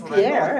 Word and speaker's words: Pierre: Thank You pronounced it Pierre as you're reading, and you pronounced it Pier. Was that on purpose? Yes. I love that you did that. Well, my family's from Louisiana. Of course, they spoke French. So So it would be Pierre.